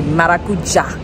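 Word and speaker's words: maracuyá: Just like how they say maracuja. It's pronounced, or it's spelled like maracuya. As an English speaker, that's how you would want to pronounce it, because it has a Y in it. Maracuya is it's passion fruit in Spanish, but paisas say maracuja, so it's Medellin.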